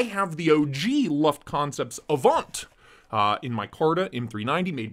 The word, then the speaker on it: AVNT: a V and T it's like Avant but they've Stripped Away the extra a and the e at the end so it's just Avant bearded gear comment down below